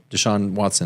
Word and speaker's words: Deshaun Watson: Well, as you talked about Deshaun Deshaun Watson.